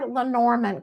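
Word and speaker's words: Lenormand: going to go to Lerman cards or lenorman cards as as people pronounce it and with these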